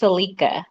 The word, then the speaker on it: Selika: uck it up well my name is pronounced celika It's s e l i k a and is